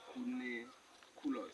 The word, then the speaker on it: cuniculus: Cuniculus is spelled C-U-N-I-S. Cuniculus.